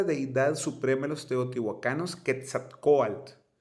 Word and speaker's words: Quetzalcóatl: Quetzalcóatl. En náhuatl significa serpiente emplumada, de Quetzali, pluma, y Coatl, serpiente, así se pronuncia.